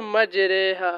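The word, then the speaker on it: مجراها: रॉ की तरह पढ़े, यानी री नहीं बल्कि रे पढ़े। अब आप यहाँ पर देखिए, ये देखिए लिखा हुआ है इमाला, ठीक है, मजरेहा, है ना।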